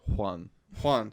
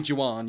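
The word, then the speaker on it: Jewan: 23 year old nails that's pronounced juan juan excuse me actually no it's not it's j-e-w-a-n oh my gosh it's actually juwan yes i'm sorry i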